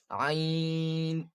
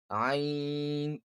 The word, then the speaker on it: ع: ain and ha, these both are pronounced from the middle part of the throat, middle part of the throat. ha ain ha ain ha Then, ghain kha.